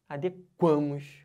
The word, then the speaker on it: adequamos: quando passa do radical por exemplo ó eu me adeco a sílaba tônica tá dentro não pode mas se eu falar assim nós nos adequamos ó pegando o ar na sílaba tônica aí já pode entendeu então o verbo